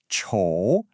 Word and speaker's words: 丑: The pinyin is 丑, and it uses the third tone.